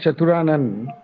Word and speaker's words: Chaturanan: Okay, so I can see your name here is in Chaturanan. Yeah. So, Yeah. what is the correct pronunciation? Is it correct or not? Yeah, it's correct. Chaturanan.